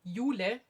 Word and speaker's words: Eula: cardigan you're working on it's called ulay it's it's a German name or you know the nickname for you yeah so it's EULA and it's by strick